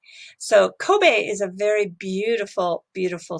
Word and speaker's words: Kobe: should tell you that in Japan we actually pronounce this Kobe so Kobe is a very beautiful